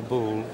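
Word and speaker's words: Boulle: l l e all right after Andre charl bull who was a designer and Furniture maker working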